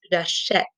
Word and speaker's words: j'achète: J'achète. So you hear the eh? Well, in order to make that eh sound, we needed to add the accent grave.